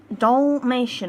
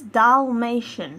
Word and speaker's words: Dalmatian: reviewing the male de dollmation I cannot say that dog breed to save my life I say dation and it's do it's Dalmation that's it Well Done Chloe youve said it right so um it's the